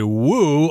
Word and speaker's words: Wu: at least will say woo although i believe in mandarin you'll just say but we always pronounce the w in english michelle wu and she made history